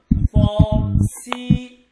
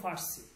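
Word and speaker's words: فارسی: পড়লাম অবহয়ে যাব ফরসি কিন্তু আমরা কি পড়ে থাকি মানে ভুল ফারসি আমরা এখানে ফারসি বলি কি বলি সরাসরি না এটা শুদ্ধ উচ্চারণ ফারসি হবে না ফরসি ফর সি ফরসি নট ফারসি ঠিক আছে তাইলে তারপর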